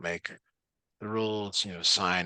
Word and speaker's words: sine: the rules you know sine not sin sends a different class